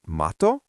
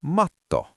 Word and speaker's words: matto: Is it mato or matto?